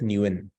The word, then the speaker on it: Nguyen: has the same surname, which is spelled as Nguyen, right? So in English, when you look at Nguyen, it's hard to pronounce because you're like Ngu or something like that. But the real pronunciation is just Nguyen.